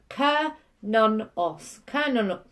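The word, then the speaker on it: Cernunnos: Pronounced Kernonos.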